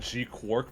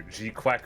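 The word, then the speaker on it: GQuuuuuuX: It's typically called Gqu Quark, but people have been calling it either Gquque Quack or Oh my god.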